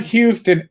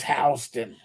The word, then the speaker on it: Houston: know you're from new york city when you pronounce houston street correctly it's not houston it's houston i used to work your house in sweden